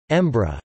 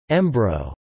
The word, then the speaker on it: Edinburgh: The colloquial pronunciation, Embra, or Embro, has also been used, as in Robert Gerrich's Embro to the Ploy.